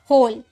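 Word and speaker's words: whole: निकाला हुज डब्ल्यूए का ह में साउंड निकला होल यहां भी डब्ल्यूए का साउंड ह में निकला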